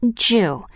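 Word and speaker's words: 十: number in Japan because it is pronounced Jew like the Japanese word for enough in the Western World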